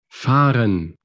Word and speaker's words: fahren: Si la palabra, por ejemplo, conducir, fahren, se pronuncia siempre en los verbos, en la primera sílaba, fahren.